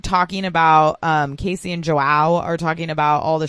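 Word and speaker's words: João: It's like wow with a J in front, like Joao.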